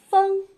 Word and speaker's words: 枫: 第一个字念枫，它的韵母是后鼻韵母 ,ng, 枫，我们不要读成了枫就不对了。